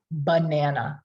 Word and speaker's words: banana: banana everyone say banana there's schwa is in there right and when we say the word ba what do we hear we hear a but how do we spell it we spell it with an a man uh there's two schwas in the unaccented syllables ba man uh so when our voice is down like that and unaccented we hear that schwa sound and when students go